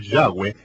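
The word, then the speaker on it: Yahweh: de 7000 veces aparece el nombre del Señor yahwe en las escrituras hebreas pero los traductores de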